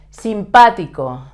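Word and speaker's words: simpático: in Spanish is expensive simpatico friendly simpatico notice that there's a written accent here that's why we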